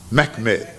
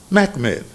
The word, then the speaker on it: Mehmed: Mehmed. Mehmed.